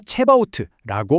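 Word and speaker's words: צבאות: 히브리어 원문을 보면요, 이 단어는 여호와 체바오트라고 발음합니다.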